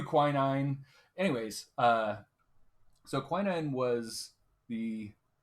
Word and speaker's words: quinine: country you're talking about they have different pronunciations the British is winning but we do quinine anyways so quinine was